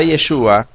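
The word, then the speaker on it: ישוע: notamos lo siguiente, que en la palabra Yeshua, cuando se trata de transliteración fonética, encontramos que la IOC está con una media vocal, una E minúscula en nuestro idioma.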